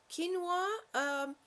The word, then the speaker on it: quinoa: five minutes or less quinoa is actually spelled we know it but it's pronounced quinoa don't ask me why